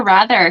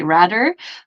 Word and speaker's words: rather: good job on the rather because I hear a lot of quebecers say rather but you say rather it's nice with your tongue between your teeth I like it um